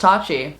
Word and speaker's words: Tati: name is pronounced tashi even though it's spelled tati um is kind of fun and i just i liked these words together like how the logo came out and my name's tati but it's pronounced tatchi i wanted to also